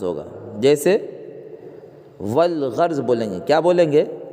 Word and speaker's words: والغرض: الف کا تلفظ نہیں ہوگا، البتہ لام کا تلفظ ہوگا۔ جیسے والغرض بولیں گے، کیا بولیں گے، والغرض، یہاں پر